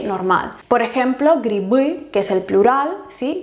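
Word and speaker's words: грибы: Por ejemplo, griby, que es el plural, ¿sí? Grip, griby. Ya deja de estar al final y entonces se pronuncia como B.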